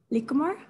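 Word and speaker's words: likkle more: Lickmore? No. All right. So it's pretty much saying, I'll see you later. It's little, L-I-T-T-L-E. But instead of spelling it with a T, you spell it with a K.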